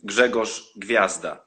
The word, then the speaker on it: Grzegorz Gwiazda: Since I'm Polish, we have a lot of this in our pronunciation. So I understand this is pretty difficult for people from abroad. My name is Grzegorz Gwiazda, and actually my surname means star in Polish.